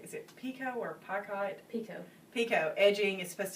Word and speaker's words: picot: and this is called Brick, and how do you say, is it Pico or Picot?